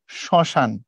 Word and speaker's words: শ্মশান: হচ্ছে এই যে শ্মশান ম ফলার উচ্চারণ করা হয় না উচ্চারণ করার সময় পড়া হয় শ্মশান মানে ম ফলা যার